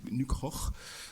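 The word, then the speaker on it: Nykrog: livre de Bernic Rogue ou plus exactement de nucroches comme il faudrait le dire danois enfin je continue à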